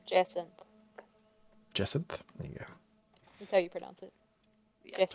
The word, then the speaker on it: jacinth: It's Jacinth. Jacinth? There you go. That's how you pronounce it.